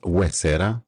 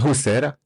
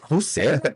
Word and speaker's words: Huesera: Oh, it's pronounced Huesera. Oh, excuse me. Not Huesera. Okay, Huesera. Huesera.